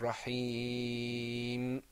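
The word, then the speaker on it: رحيم: a rough man you Raheem rahmanir raheem a rough man Rafi now notice that we pronounce we elongated the yeah and rahim because there was that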